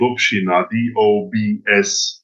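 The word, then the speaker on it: Dobšiná: It's quite difficult to pronounce, but the town is called Dobshina, Dobsei, Dobshina, yeah, and it's called just at ite, and it's Dobshinite, Okay, got it.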